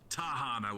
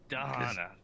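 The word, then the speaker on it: Da'Hanna: also on your pronunciation it's the D with a D not tahana with a t no one's corrected me oh my God danana danana I'm not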